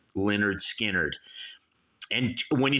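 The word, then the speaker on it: Lynyrd Skynyrd: __ ] skinnard debut album pronounced Leonard skinnard and when you spell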